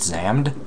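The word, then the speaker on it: Xam'd: like an anime recently called Zam which is spelled x a m apostrophe D what's my difficulty I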